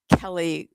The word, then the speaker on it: Kelle: is her name is Kelly Groom. Her first name is spelled Kelle, a different kind of spelling of Kelly Groom.